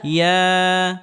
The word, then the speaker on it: يا: হামজা همزة ইয়া يا ইয়া يا ইয়া يا ইয়া يا ইয়া হরফটি জিহ্বার মধ্যখান উপরের তালুর সঙ্গে লাগিয়ে উচ্চারণ করতে হবে এবং ইয়া হরফটি উচ্চারণের ক্ষেত্রে নরম করে উচ্চারণ করতে হবে।